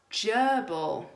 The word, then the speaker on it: gerbil: be cool how about gerbil that's on our list so I can hear the juice sound but it's not written with the letter J it's that soft G I'm getting a pet